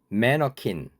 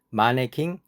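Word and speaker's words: mannequin: 매너킨, 이 단어를 아시나요? 한국에서는 마네킹이라고 발음합니다. 마네킹, 매너킨.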